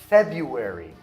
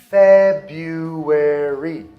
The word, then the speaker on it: February: A gente tem um mês chamado February. February. A gente não pronuncia esse primeiro R.